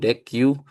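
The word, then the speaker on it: deque: Nah, untuk yang kasus contoh three ini, mm pertama sekali kita import dulu deki ini deck ya bacanya deck gitu.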